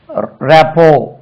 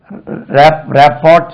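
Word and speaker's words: rapport: ஓ ஆர் டி இது ராப்போ they have a good ராப்போ both parties have a very good ராப்போ இது இதை எப்படி வச்சிருப்பாங்க ராப்போ ராப்போட் சொல்லக்கூடாது தே ஹேவ் காட் எ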